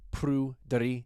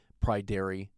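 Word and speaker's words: Pryderi: It's pronounced Prudery. It's Welsh. I apologize if a very unsophisticated Prydery slips out in my American accent.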